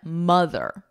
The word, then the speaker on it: mother: Here the poem is saying that the O-T-H is not the same in the word moth and mother. So here we have an aw, ma, moth, auth. Now this is the same word, a moth, they're exactly the same. Now mother, ma, ma, mother.